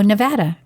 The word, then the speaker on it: Nevada: I'm just drawing oh Nevada Nevada let me say it correctly it's Nevada Nevada so anyway I don't want to offend the people cuz she always like it's Nevada not Nevada okay so if a listener